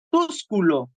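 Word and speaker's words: Túsculo: Sergio tercero se acuerden del apellido tusculo sería la pronunciación correcta verdad tusculo pues no es coincidencia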